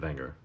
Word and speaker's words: Wenger: the longest time there was a company called Wenger remember they pronounced the W as a we pronounce we would look at that and say wer they would pronounce it Wenger and it was Victorinox and Wenger and both